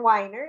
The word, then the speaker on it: Weiner: I hope to have more, but today um, I have author Weiner. Am I pronouncing that right? Yes, you are.